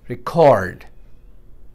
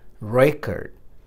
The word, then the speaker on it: record: Verbs se second syllable pe stress aata hai. Aur agar ye nouns ho, to nouns mein first syllable pe stress aayega, second pe nahin. Present. Clever. Record. Ye hai record. Isko record nahin padenge. Hum record, word wahi hai. But is a noun, you say record.